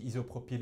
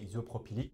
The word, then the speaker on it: isopropylique: Justement, je l'avais mal prononcé, j'avais dit isopropyl, mais c'est isopropylique.